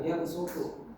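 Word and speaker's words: يبصط: Nah, pada lafaz kata ya bersuku, memang secara konteks ini tertulis huruf shad, tapi dibacanya itu sin, karena merujuk kembali kepada lafaz asal lafaznya, yaitu basato ya bersuku. Jadi dibacanya wallahu yaqbidu wa yabsutu pakai sin.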